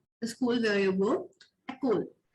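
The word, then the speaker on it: école: Ecole. So मैंने यहाँ पे Ecole पढ़ा. यहाँ पे जो E था वो साइलेंट हो गया.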